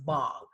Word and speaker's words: bhang: It's actually pronounced bong.